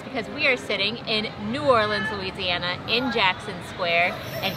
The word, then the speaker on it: New Orleans: Am I in New Orleans? You pronounce this city New Orleans. But like faster. A lens. New Orleans.